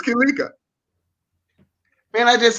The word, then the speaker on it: Kilaika: It's like Malaika, which is Swahili for angel, but it's Kilaika, which is Kiswahili.